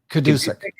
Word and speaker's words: Gadusek: Gadusek? Kadusek.